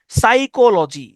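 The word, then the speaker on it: psychology: সাইকোলজিতেও প্রথম যে পিটা এটা উচ্চারণ হয় না।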